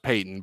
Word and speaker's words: Patton: i believe it's pronounced peyton it is pronounced peyton but it's spelled patton for sure so that's the weird